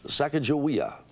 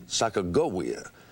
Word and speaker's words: Sacagawea: we've double checked and repeating as accurately as we can what we've been told the name is Sacagawea by the way we've also run into the pronunciation Sacagawea if you'd like to